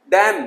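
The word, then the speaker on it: damn: डैम, लानत, N silent हो गया।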